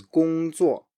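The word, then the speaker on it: 工作: Next one is 工作, 工作, 工作, work.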